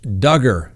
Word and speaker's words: Duggar: Next on the docket, Josh Duggar, rhymes with hugger.